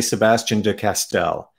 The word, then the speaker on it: Sebastien de Castell: So, how do you pronounce I never know how to pronounce it correctly because it's a French name, and but I've mostly been living in English places most of my life. So I think I say Sebastien de Castell.